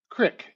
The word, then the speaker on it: creek: cus c m a Crick and I'm from Montana we pronounce the the name of streams correctly C re e k is crick in Montana and uh that comes